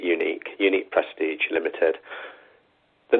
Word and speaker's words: Uniec: background about our business you probably wouldn't gather from how we spell the business name that we pronounce it unique unique prestige limited the